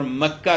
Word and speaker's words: مکہ: وہ یہ ہے کہ اس میں بکہ اور مکہ یہ در حقیقت ایک ہی لفظ کے دو تلفظ ہیں۔ اس کو بکہ بھی کہا جاتا ہے با کے ساتھ اور مکہ بھی کہا جاتا ہے۔